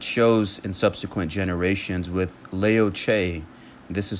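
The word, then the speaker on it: Liu: in subsequent generations with Leo this is spelled l i u which is pronounced Leo in Chinese and Chi s c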